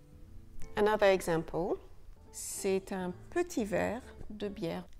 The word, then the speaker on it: c'est: C'est un petit verre de bière. C'est un petit verre de bière. It is a small glass of beer. It is c'est, with a silent T.